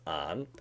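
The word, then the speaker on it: 安: the piece for roof okay so it's actually pronounced on and it's made up of two parts it's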